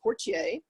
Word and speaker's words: Portie: the the name if you go to Louisiana is pronounced Portier and my father was